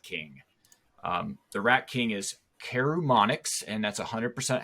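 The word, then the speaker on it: Karumonix: The Rat King is Carumonix, and that's 100% how it's pronounced, the Rat King.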